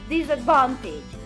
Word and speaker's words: disadvantage: to keep balance so we say advantage but we say disadvantage this takes a secondary stress so no so as to avoid having two weak syllables before the main stress so this can happen